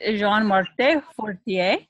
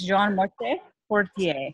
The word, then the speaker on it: Jean Martin Fortier: And we did a little practice of his beautiful name pronounced in the French way.